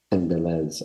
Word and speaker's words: Ines: clarification Could you um uh provide the proper pronunciation of the school's name Institute Ines Beauty School Ines okay there we go I'll remember that thank